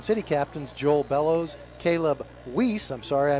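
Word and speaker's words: Wiese: Garden City captains Joel Bellows, Caleb Weiss. I'm sorry I mispronounced his name in the pregame. He spelled W-I-E-S-E, pronounces it Weiss.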